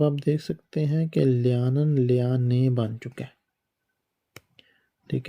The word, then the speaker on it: lernen: بنیادی شکل ہے میں ابھی جرمن سیکھ رہا ہوں تو سیکھنے کو جرمن میں لیانن کہتے ہیں۔ اس کا سپیلنگ یہ ہے لیانن، LERNEN، لیانن، اس کو